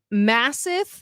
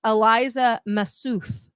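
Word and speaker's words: Elisa Massoth: Ann Taylor, and I found out from Andrea Burkhart, Massith, that's not how you pronounce her name. It's Eliza Massuth.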